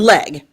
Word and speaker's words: Legge: Catherine Legge. Yes. So the E is silent.